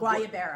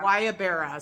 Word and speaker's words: Guayabera: It's like a wedding shirt, but they call it Guayabera. Guayabera.